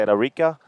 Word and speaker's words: Arica: Presentador oficial Arica Chilean Challenge GoPro 2000. IBA Arica Chilean Challenge presented by the town of Arica. It's you got to say it like this: Ilustre de Municipalidad de Arica.